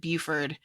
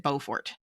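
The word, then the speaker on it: Beaufort: Everyone here says it Buford. Bufort. And he and Google Maps pronounces it Bowfort.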